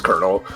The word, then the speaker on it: colonel: Kakapo can't say It's only spelled like col. It's Colonel.